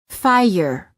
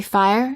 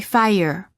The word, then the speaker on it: fire: the R follows it there is a slight a sound that is added after certain vowels making it sound almost as if the word contains an extra syllable for example fie yer don't say fire say fire words for practice adding